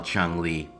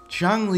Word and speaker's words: Changli: I'm void igma and I used to call Chung Le ch Le so I decided to change the way that I pronounce it okay okay I'll stop Chong Le is a character that is built around her